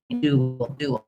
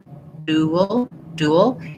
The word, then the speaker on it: dual: a duel with somebody, it has the oo sound and the ul sound. You end up a little in between, dual. It's one syllable, but because I'm moving from the oo shape to the shape, dual, you will hear a little sound in there.